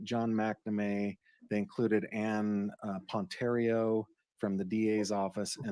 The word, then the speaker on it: Ponterio: They included Ann Ponterio from the DA's office.